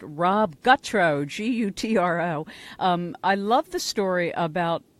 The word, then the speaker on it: Gutro: And by the way, we do have a winner who rightly pronounced Rob Gutro, Gutro.